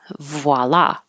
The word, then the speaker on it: voila: final D reviled voila this is a a VW combination so you're rounding your lips as soon as you can after do you make the v v voila voila voila means there